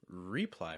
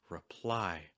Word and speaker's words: reply: Well, you can say reply, and some people do, reply with that re sound. But when you listen to native speakers, they're more likely to pronounce it as ruh, ruh. It gets reduced, so it becomes reply.